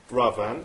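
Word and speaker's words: Raavan: Ravan. That's right, you pronounced it correctly.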